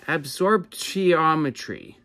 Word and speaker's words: absorptiometry: Absorptiometry.